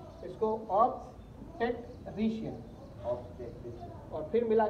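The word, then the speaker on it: obstetrician: ऑब्स्टेट्रिशियन हिज्जे, हिज्जे जैसा करते हैं ना, अरबी पढ़ते हैं आप लोग, हिज्जे वैसा हिज्जे कर दे रही है इसको, ऑब्स्टेट्रिशियन, और फिर मिला के बोल देने का ऑब्स्टेट्रिशियन, इस तरीके से ये इसे बोलते हैं।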